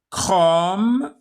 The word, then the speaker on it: chrome: Il peut s'écrire avec CH, yani ch, ou ça se prononce que. Chrome, chronologie, écho.